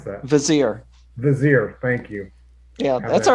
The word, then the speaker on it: vizier: the uh the bizarre that how do you pronounce that vizier vizier thank you yeah that's all right they're having